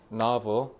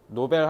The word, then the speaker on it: novel: novel. 노벨 하면 너 노벨 문학상 된다. novel이라고 읽어야 알아먹어요, 걔네.